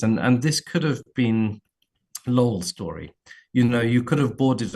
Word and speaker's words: Lowell: I say Lowell, but it's actually Lowell.